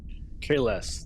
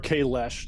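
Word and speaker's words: Kahless: Kales. KLS. Of course. Or Kalesh, depending on which series you refer to, because they just decided to change the pronunciation in Discovery.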